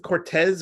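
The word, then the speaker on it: Cortese: Is it Joseph Cortez or Joseph Cortezi? Cortez. C O R T E S E.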